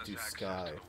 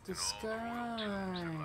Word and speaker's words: Duscae: So it's pronounced Duscae. It's Duscae.